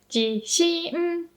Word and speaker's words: 地震: They both have the same pitch accent. Low, high, high. 地震.